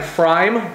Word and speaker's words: pFriem: beer reviews tonight I'm trying fry brewing out of Hood River Oregon the P is silent this one is just called Indian Pale Ale got a frame brewing Oregon let's win